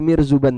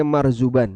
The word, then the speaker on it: Marzuban: Nah, kalau ada para pendekar, para jawara kerajaan yang lewat, itu masyarakatnya sujud kepada Mirzuban tadi. Di sini bacanya Marzuban ya.